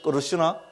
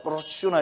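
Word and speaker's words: कृष्ण: 그래서 끄르시나, 혀를 호로록 굴려야 됩니다. 그죠? 끄르시나 이래야 되는데, 그죠?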